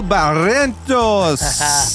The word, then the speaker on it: Barrientos: is Chef Barrientos. Thank you, brother. How did I do? Very good. How did I do with the name? Pretty good? You're learning to pronounce the R.